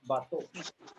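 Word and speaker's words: bateau: So bato. It's called boat, right? The spelling is batio, but we say bato. Pronounce it as bato.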